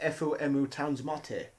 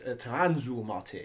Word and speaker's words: FM Towns Marty: Some might say that the Mega Drive was a Poundland FOMU Towns Marty. He's pronounced that wrong. It's Tanzu Marty.